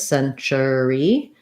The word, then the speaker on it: century: So to rewrite century in a way that might make more sense to your brain, I would write it as cent or as century with first syllable stress, century.